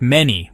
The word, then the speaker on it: Menes: In the ancient Egyptian language, the name was likely pronounced something like many, which translates to he who endures or the one who establishes.